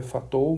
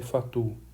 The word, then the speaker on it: Fatou: Aqui a escrita se for ler aqui na pronúncia português, seria Fatou, mas francês, matemático francês, a pronúncia é mais ou menos essa que eu falo aqui, lema de Fatou.